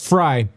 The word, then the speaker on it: Frey: By the way, Glenn Frey's last name is pronounced Fry.